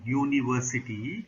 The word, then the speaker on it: university: For example, university, even though the word starts with U, which is a part of vowel, but it is pronounced as U, university, which is not a vowel sound.